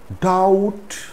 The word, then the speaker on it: doubt: is used before t there are a few words in which the b is silent before the letter t these words are date date it's not debt debt doubt subtle subtle it's not